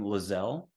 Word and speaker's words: Lieselle: below the video but just think gazelle for how you pronounce her name lizelle and that's l-i-e-s-e-l-l-e and Elliot would be